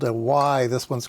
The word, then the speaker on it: wye: But if you go in the literature, oftentimes it's spelt W-Y-E. Okay, so if you see a Y power splitter, it's this. They didn't want to use the letter Y in certain circumstances, so they just spelled it out phonetically.